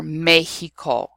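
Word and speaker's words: México: But in certain words of Mexican origin, it is pronounced H. So when you have the word Mexicano or Mexico, you don't pronounce it as an X.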